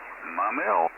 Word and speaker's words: Maumelle: Well, it is spelled here Maumelle, but the French explorers thought the mountains in the vicinity looks like a familiar object, which is spelled Mamelle. So that's how that came about.